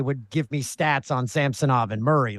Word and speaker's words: Samsonov: Yeah, they said that at the beginning of the year that he wanted it pronounced Samsonov.